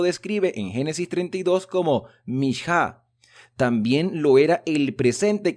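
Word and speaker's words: מנחה: Y dice el comentario que la palabra ofrenda se pronuncia en hebreo mishá.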